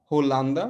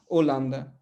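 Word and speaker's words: Holanda: तो लिखते हैं होमे, है ना, जैसे हमने पिछली क्लास में एग्जांपल दिया था, होलांदा लिखते हैं होलांदा, लेकिन उसको पढ़ते क्या है, ओलांदा, एच साइलेंट हो जाता है, ठीक है।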